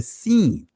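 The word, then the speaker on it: שׂ: To the left, you pronounce it as the seen.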